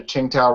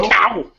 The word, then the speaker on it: Qingdao: It's like Qing. It's a Qing, Dao. and then it's Dao, like I don't know, Dao, D-O-W.